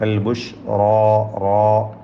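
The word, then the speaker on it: البشرى: പരക്കുക എന്നൊക്കെയാണ് തഫസിയുടെ അർത്ഥം റാവും അതിൻറെ അലിഫും തഫ്ഹീം ചെയ്ത് തടിപ്പിക്കേണ്ടതാണ് അൽബുഷ്റാ ബുഷ്റ എന്ന് മലയാളത്തിലെ റായി പോകരുത് ബുഷ്റാ ഫബഷിബി അതിലുള്ള റിനെ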